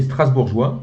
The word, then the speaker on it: Strasbourgeois: 첫 번째 Alors, 첫 번째 Strasbourgeois, 스트라스부르주와 c'est ça.